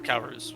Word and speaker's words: Calruz: And then his father was Calruz. Or Calruz, however you want to pronounce it.